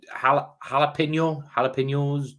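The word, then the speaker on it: jalapeño: I never know how to say it's like jalapenos. It's a silent J. It's definitely not a J. Don't say the J. It's it's probably like jalapeno. But jalapeno's okay with our accent.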